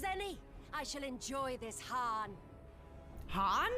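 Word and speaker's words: Hien: I shall enjoy this han han it's pronounced Han I thought it was Hagan is this truly necessary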